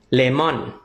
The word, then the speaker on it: lemon: EP 20 มะนาว เหลือง เลมอน เลม เน้น พยางค์ แรก เลม มะนาว เขียว ไม่